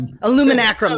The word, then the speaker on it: Illuminacrum: FAEs AR, Augmented Reality, and then John Illuminacrum, right, on YouTube? Did I mess it up? Illuminacrum, that's right. I always forget that syllable.